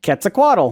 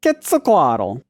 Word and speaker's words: Quetzalcoatl: school growing up uh it would be pronounced quetzalcoatl yup quetzalcoatl but nope kristin's ruining